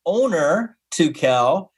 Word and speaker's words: Onur Tukel: You can pronounce it Onur Tukel. You can pronounce it Onur, like my friend Paul Papadeus, my Greek friend, says it. That's like the Turkish way to say it.